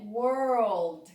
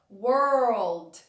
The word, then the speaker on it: world: É world, que significa mundo. Uma dica de pronúncia antes da gente falar do exemplo é você falar were old. Aí depois você junta as palavras were old, world.